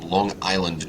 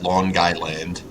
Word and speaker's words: Long Island: coming to you from Long Island New York otherwise known as long guide land yes um if you uh pronounce it that way I'll be hosting the